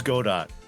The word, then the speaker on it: Godot: It is pronounced Godot, but I don't I say care.